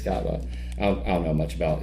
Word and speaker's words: Kaaba: Sure. Kaaba. It's Kaaba.